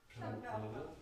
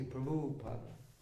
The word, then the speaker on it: Prabhupada: Prabhupada. That's correct. Prabhupada. Prabhu. It's actually Prabhupada.